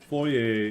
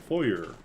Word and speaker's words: foyer: maybe it's like U foyer and foyer it's like when a word a French word comes into English long enough the corruption of the pronunciation becomes a new pronunciation so like you go